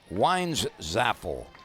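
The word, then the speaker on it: Weinzapfel: p Fel but pronounced wies zapple the p is silent the Tiger alfield has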